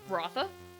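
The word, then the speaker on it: Ruatha: Ruth um Raha oh according to the dragon lever's guide to per it is pronounced with a th sound rotha okay so I do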